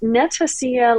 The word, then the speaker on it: Netacea: as Andy 2 over at Netacia uh which is pronounced Netacia like Panacea.